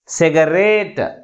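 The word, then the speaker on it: cigarette: But which syllable is pronounced with గ్రేటర్ force? Last syllable is pronounced with గ్రేటర్ force comparing with other syllables. That's why the primary stress is ఆన్ the last syllable. That means RE syllable.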